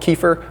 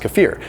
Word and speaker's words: kefir: number 17 is kefir some people call it kefir I've heard that it's properly pronounced kefir either way if you